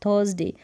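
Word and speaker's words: Thursday: बिल्कुल नहीं थर्सडे पढ़ेंगे, थर्सडे, अ करके साउंड आ रहा है यू आर का, थर्सडे,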